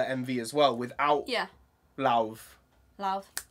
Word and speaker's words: Lauv: I think it's love, you know. I don't think it's sounds love. Sounds like love. I'm pretty sure I've heard it pronounced. I'm pretty sure I've heard it pronounced love.